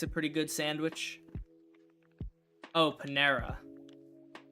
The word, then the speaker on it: Panera: Oh, Panera. It's not how it's spelled, but I see Panera. Spelled with an A. Pan-era.